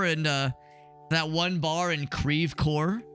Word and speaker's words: Creve Coeur: After this, we're gonna go and head over and that one bar in Creve Coeur, because that's how you pronounce it. It's definitely not Creve Claw.